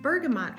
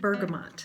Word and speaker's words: bergamot: about bergamot oil now for the longest time I have been pronouncing it Bergamo and I've been keeping this heap silent but I looked it up several places in all of the places they that you pronounce it bergamot ber G am T so I've been pronouncing